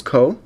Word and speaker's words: Koh: okay so it says hello my name is co co is pronounced Co I lived in Georgia for 4